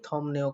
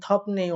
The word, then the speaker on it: 덥네요: আপনারা যদি আমার মতো করে আমি যেভাবে আপনাদেরকে উচ্চারণ শিখিয়েছি সেভাবে যদি পড়ে আসেন তাহলে আপনাদেরকে থমনেও কথা বলার সাথে সাথে আপনারা বুঝে যাবেন কি আমাদের থপতা শব্দটাই বোঝাচ্ছে মানে গরমকেই বোঝাচ্ছে। কিন্তু যদি থপনেও অনেকে পড়ে থাকেন অর্থাৎ এই বিয়োগটাকে ম না